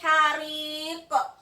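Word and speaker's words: حريق: Cara membacanya azabul hariq. Yang mana huruf qalqalahnya? Ya, ini huruf ko. Terletak di akhir ayat, maka pantulannya harus lebih kuat. Azabul hariq.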